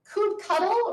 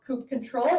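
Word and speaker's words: kubectl: Coupe cuddle or sometimes pronounced coupe control is how you interact with your Kubernetes cluster.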